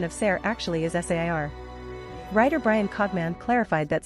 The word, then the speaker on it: Ser: the cast and crew, Ser is pronounced Sair. Actors usually say it very fast or slur it so it sounds very similar to the standard Sir, but this is not the case.